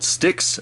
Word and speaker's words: Styx: really good oil it's it's uh called stix it's spelled styx so let me go